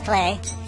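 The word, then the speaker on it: Klei: And I think Clay, and that's how you pronounce Clay, is Clay, has responsibility for it.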